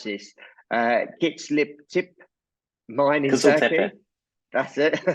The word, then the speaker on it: Kiziltepe: must be getting, and remind me how to pronounce this, Kiziltepe mine in Turkey. That's it. Yes. Mine in Turkey into production. What are the significant milestones ahead of you for that mine? Yeah, so absolutely true. Kiziltepe was a huge milestone for the company because